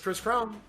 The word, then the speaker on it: Kris Krohn: support and follow the Chris cron it's just Chris Crown just spell it right k r i s k r